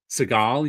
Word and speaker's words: Seagal: is at a Steven Seagull level. So Steven Seagull. Seagal you mean? is Steven. Oh yes, Steven Seagal is we pronounce Seagal.